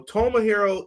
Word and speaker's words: Tomohiro: are all going to learn how to properly pronounce these names Ring of Honor world champion Chris Jericho Tomah hero e who call them big time you people